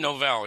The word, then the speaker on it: Novel: Gordon Novell, yeah.